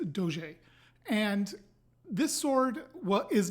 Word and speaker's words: Doge: I want to say I said do I'm really not positive that's how to pronounce it I think that's correct for Italian which is what the sword is inspired by so that's what I'm going to go with but it could also be Doge but I think it's